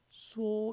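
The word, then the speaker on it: 說: 말씀은 리얼 받침인데 기쁠열도 리얼 받침이고 중국에는 리얼 받침이 없다어요. 그래서 설자를 수호 이렇게 발음 되 있죠.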